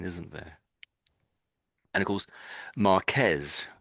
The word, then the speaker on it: Marquez: And of course, Marquez, Marquez, isn't it? It's like trill on the R, isn't it?